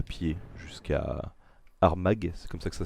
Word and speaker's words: Armagh: vous propose qu'on se déplace à pied jusqu'à Armagh, c'est comme ça que ça se prononce. Arma.